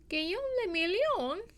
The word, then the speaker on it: Guillaume le Million: Guillaume le Million? If it doesn't rhyme, you're not pronouncing it Guillaume right. le Million. It has to be like that way.